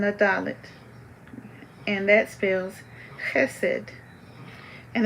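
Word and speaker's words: חסד: dalit and that spells hesed and it's spelled here for us the ch is the sound of like bach like a german ch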